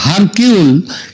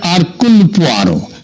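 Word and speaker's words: Hercule: আগাতার কৃষ্টির যে গোয়েন্দা আরকুল পোয়ারো তার তত্ত্ব অনুযায়ী আঘাতে এবং তার বনে গোয়েন্দা আরকুল পোয়ারো এটা যদিও উচ্চার উচ্চারণে এটা হয় হারকিউল কিন্তু একচুয়ালি উচ্চারণটা হচ্ছে আরকুলার তিনি যদি আজ বেঁচে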